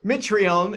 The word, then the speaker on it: Mitrione: all the time so Mitrione it's a silent E is favored at minus